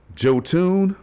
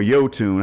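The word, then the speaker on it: Jotun: i know one thing joe tune or yotun however you want to pronounce it depending on your accent or whatever it's a dope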